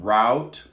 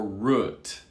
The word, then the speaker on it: route: oh we have two ways to say this now route or root and i think we have to say root rookie no route oh this is weird all right route that's the most common pronunciation rookie route or root